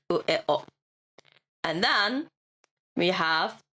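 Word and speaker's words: を: only pronounced as an O. So the W is silent.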